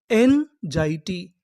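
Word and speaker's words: anxiety: मैं आपको बता दूं कि जो हमारा एक्स होता है उसे कभी कबभार हम लोग जा भी पढ़ते हैं।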